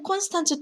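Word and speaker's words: Konstanz: 슈트 다이 이렇게 되었는데요 그런데 에스피나 st 가 이렇게 한 단어에 시작점이 아니라 단어 중간에 어중간하게 깨어 있을 때는 요 그냥 원래대로 평범하게 발음하는 게 보통 이에요 무슨 얘기냐 며 뇨 여기 컨 스탄 쓰라는 도시 이 됨을 보시면 지금 st 가 단어 처음이 아니라 단어 중간에 있죠 국내 이게 사실 콘스탄츠 토박이 들은 약간 4초 리를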